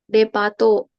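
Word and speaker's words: デパート: Gimana bacanya kepanjangan nggak? Depato.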